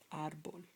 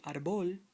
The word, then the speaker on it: árbol: Let's take the word árbol. Knowing these rules from the top, if a word ends in a consonant, the accent falls upon the last syllable. This is a consonant. This is a consonant. You say, but the accentuation falls on this part of the word.